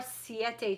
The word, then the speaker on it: Siete: What are siete chips? How do you spell it? Siete as in the number 7 in Spanish, so S-I-E-T-E.